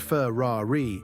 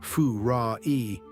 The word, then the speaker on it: Ferrari: Americans say Fu-ra-e, swallowing the R. Italians roll it Ferrari, with a growling double R.